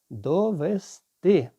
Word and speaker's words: довести: виявляється, що правильно довести наголос на останній склад.